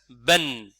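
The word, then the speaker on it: بً: Donc ici avec double fatha, tanwin ou fatha, ben. On le lit, ben. Ben. Il faut très important dans s'entraînant avec moi, c'est écouter et répéter. Quand je répète, c'est pas pour le plaisir, c'est pour vous entraîner correctement. Donc je prononce, je laisse une petite pause, vous répétez après moi. Je redis encore une autre fois, ben. Ben. Vous rajoutez le son n, vous voyez, n.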